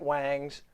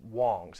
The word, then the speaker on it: Wangs: a company called wong's i know it looks like wangs but it's pronounced wong's as i understand it and i know you're